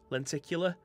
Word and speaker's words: lenticular: got the grain was telling me i was pronouncing this wrong so len llennicular lenticular liquid it's like a hologram one anyway it